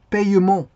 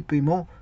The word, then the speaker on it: paiement: paiement ça peut s'écrire anciennement ça s'écrivait payement alors là le e n est pas muet mais maintenant bon on peut l'écrire comme ceci paiement il y a e muet ici le e il est muet bon ça c'est pour